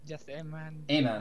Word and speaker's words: Amen: a man a man am i pronouncing your name right by the way is it amen yep amen okay cool yeah not